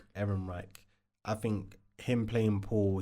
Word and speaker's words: Ehrenreich: Erin Reich. Erin Reich.